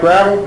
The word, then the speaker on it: Gravel: Tonight's our panel features Senator Mike Gravel Gravel [speaker corrects pronunciation.] I grew up here, I knew better!